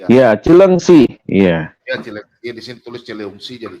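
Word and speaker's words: Cileungsi: Ya, Cilengsi. Di sini tulis Cilengsi, jadi Cilengsi ya. Nah, Ya memang nulisnya begitu, tapi bacanya Cilengsi Pak.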